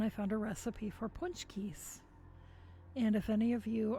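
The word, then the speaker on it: pączki: seen punch Keys except you might not have known how to pronounce it because you know it's polish way too many consonants particularly Z's C's and K's and hardly any vowels but they're um they're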